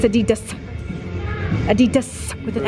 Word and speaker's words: Adidas: Do you like the Adidas pants?